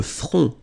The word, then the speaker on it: front: Final T, not pronounced. Le front. Okay, remember this nasal O-N, on.